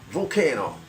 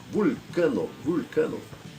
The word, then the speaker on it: Vulcano: o americano, o europeu, fala Volcano, eles acreditam que seja vulcão. Tá? Que quem lê um pouquinho mais vai ver que é vulcano, deveria, os latinos pronunciam assim, vai ver que é o deus do metal.